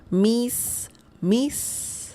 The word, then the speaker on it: mis: M. It's very The pronunciation of this word is very similar to the English word miss.